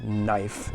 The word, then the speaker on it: knife: it's my knife knife the k in the word knife is silent so it's just knife you know what is